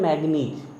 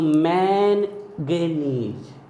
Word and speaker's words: manganese: ये देखो, अगर आप स्पेलिंग देखोगे तो ये लिखा हुआ है MANGANESE, तो मैनगेनीज, मैनगेनीज, लेकिन N साइलेंट रखते हैं तो मैग्नीज होता है।